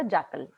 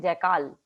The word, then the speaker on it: jackal: Okay, JACKAL जो है जैकल, इसका प्रोनाउंसिएशन हम जनरली क्या कर देते हैं? जैकाल. तो जैकाल इसका प्रोनाउंसिएशन नहीं है, इसका प्रोनाउंसिएशन क्या है? जैकल है.